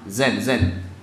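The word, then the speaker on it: زين: Jadi zain artinya apa? Bagus, indah. Lawan kata dari zain adalah syain. Zain lawannya adalah syain. Biasanya diucapkan orang Arab zen.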